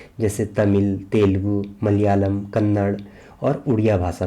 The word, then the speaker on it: मलयालम: प्रयोग किया जाता है जो हम मलयालम लिखते हैं उसका पहला ल यही नॉर्मल ल होता है जो दूसरा ल होता है यह हमारा यही विशिष्ट व्यंजन वाला ल होता है जो इसका उच्चारण होता है यह मलयालम होता है ना कि मलयालम इस तरीके से हिंदी